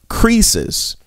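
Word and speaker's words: krisis: crisis it comes from the greek word creases with a k k r i s i s that's how we would spell it which means decision so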